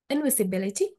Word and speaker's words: invisibility: And the word invisibility, invisibility. So here the primary stress is on we, and all other syllables are weak stress.